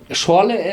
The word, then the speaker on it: Schorle: How do you pronounce it correctly? Schorle.